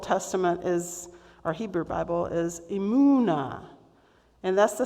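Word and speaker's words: אמונה: So if you want to hear the meaning of emunah, you need to say it like braying. So can you do that with me? Emunah.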